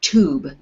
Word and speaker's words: tube: end of the word tube is to make the u sound long if there was no e it would be you tub tub with the e on the end it becomes tube okay good okay derek